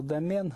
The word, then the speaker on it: домен: на вот так вот я привык произносить слова домен на французский манер и отнюдь не на английский домен вообще домен слаута вроде как французской то французского короля был когда-то д.м.н.